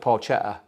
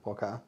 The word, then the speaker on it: porchetta: call it different things I used to call it porchetta porquetta and then I got I kept getting corrected it's porquetta porquetta yeah yeah